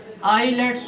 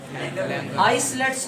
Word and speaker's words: islets: उन सेल्स वाले हिस्से को हम बेटे नाम दे देते हैं आइलेट्स of Langerhans. आइलेट्स of Langerhans, आइलेट्स ऑफ, आइसलेट्स नहीं पढ़ते इसको, एस साइलेंट होता है, आइलेट पढ़ते हैं।